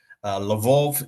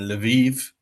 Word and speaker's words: Lviv: My first visit, I of course mispronounced. I said Kiev and Lvov instead of Kiev and Lviv.